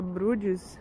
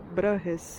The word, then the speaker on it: Bruges: chamavam de bruxas, porque aqui a gente fala brudes, é, em inglês. E mas aqui a do jeito que eles pronunciam parece tipo bruhres ou bru, alguma coisa assim, que parece com